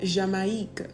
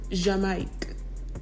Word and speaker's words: Jamaïque: I'll give you an example. The word jamais, which means never, and then the word Jamaïque, which means Jamaica, right? So jamais, never, Jamaïque, Jamaica. You hear the difference in how the I is pronounced.